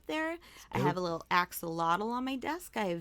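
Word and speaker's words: axolotl: I have a little axelottle on my desk. I have various bird figurines. That's a Michelle. Really? Yeah. It's pronounced ashelote. But I mean, the whole world says axelottle, but that's because they're not correctly pronouncing uh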